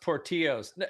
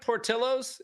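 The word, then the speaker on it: Portillo's: last name so that in Italian the Double L is just an LL oh really it's Italian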